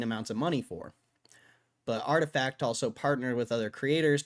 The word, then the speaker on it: RTFKT: the shoe company, acquired RTFKT, pronounced artifact. Although you can say it differently if you like for an unknown but presumably astronomical amount of money.